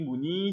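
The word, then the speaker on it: 무늬: 다만 세 번째 것은 자음 더하기 의는 의를 이로 발음한다, 의를 이로 발음한다 라고 하는 것.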